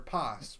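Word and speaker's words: Paz: Oh, okay, then you know Pass or Pass. Remember? Right. Okay, I don't know how to say her name. Yeah, I don't either. Pass. P-A-Z. Pass. Not Puss. Pop.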